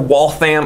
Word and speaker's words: Waltham: All right, Waltham Watch Company, founded in 1850 in Waltham, Massachusetts, or Waltham. I've heard it pronounced multiple ways, not too far away from where I grew up in New England.